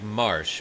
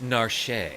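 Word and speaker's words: Narshe: I always pronounce it like Marsh, but the wiki says it's pronounced Nar.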